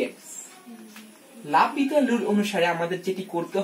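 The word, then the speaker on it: L'Hôpital: এই রুলটি হচ্ছে লা পিতার রুল, বা এটি অনেকে উচ্চারণে আমরা লা হসপিটাল রুল বলে থাকি।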